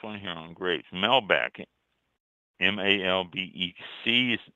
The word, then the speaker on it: Malbec: Malbec, M-A-L-B-E-C, is pronounced Malbec.